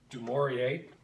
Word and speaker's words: Dumouriez: Dumouriez, as you would say in the French pronunciation, was appointed to the position of war minister.